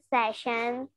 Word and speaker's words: session: So, like the pronunciation of the word session. How do you pronounce it? Session. Yeah. You, when you speak it in a sentence, you pronounce it as session. Okay? But we pronounce it as session. Session. It has the sound of a.